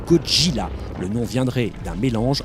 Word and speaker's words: Gojira: Enfin, pour être complet, sachez que Godzilla se prononce en japonais Gojira.